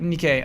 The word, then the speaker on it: Nikkei: it so well the Nick a article am I pronouncing it right whatever uh uh Nikkei you're right Nikkei uh goes into description